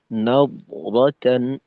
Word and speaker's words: نضرة: আচ্ছা, এইখানে নাওরাতান, নাওরাতান একটু দদের উচ্চারণটা মোটাভাবে না করলে জি দালের মতো বোঝা যায়।